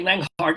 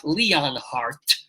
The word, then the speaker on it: Leonhart: Well, people can find out what Jay Leonhart is going to write, what music he will have, and what Ari Melber will do.